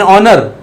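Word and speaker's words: honour: पर एन लग गया दूसरा एन ऑनर उसी तरह से एच साइलेंट है यही रूल कहता है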